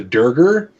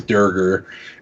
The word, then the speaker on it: Draugr: So, like, they're the Draugr in the game, which is a D&D reference. They initially misspoke and called it the Durger. And so that's canonically how it's pronounced in the game, is Durger.